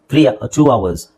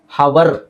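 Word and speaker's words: hour: ಅವರ್ ಒನ್ ಅವರ್ ಟವರ್ಟ ಅವರ್ಸ್ three ಅವರ್ಸ್ ಅವರ್ ಒಂದು ಗಂಟೆ ಅಂತ ಹೇಳ್ತಿವಲ್ಲ ಅದನ್ನ ಅವರ್ ಅಂತ ಹೇಳಬೇಕು ಹೊರತು ಹವರ್ ಅಂತ ಹೇಳಬಾರದು ಅವರ್ ಅಲ್ಲ ಇದು ಅವರ್ ಆಮೇಲೆ ಆನೆಸ್ಟ್ ಆನೆಸ್ಟ್ ಪ್ರಾಮಾಣಿಕ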